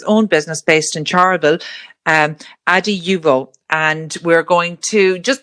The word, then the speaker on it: Adiuvo: Is it Adiuvo? No? We say it Adiuvo. People say it many different ways.